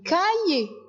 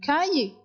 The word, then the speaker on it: cahier: Donc, on a un cahier. Un cahier. On a mis le C et le C devant le A se prononce K. Donc, on dit un cahier.